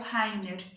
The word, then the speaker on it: Rainer: O autor do álbum é o Rainer com R. Se escreve exatamente como eu estou falando, R-A-I-N-E-R.